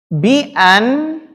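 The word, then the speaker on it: بِأَنْ: Bi'an, nah ini bacanya bagaimana? Bi'an, kok nggak dibaca ana Ustaz? Ini bacanya bi'an atau bi'anna? Dilihat setelahnya. Kalau setelahnya fi'il, maka dibaca bi'an. Kalau setelahnya isim dibaca bi'anna.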